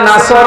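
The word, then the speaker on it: نصر: এখানে সোয়াদ আছে, নাসর মানে সাহায্য, আর নুন সিন রা নাসর মানে ঈগল পাখি।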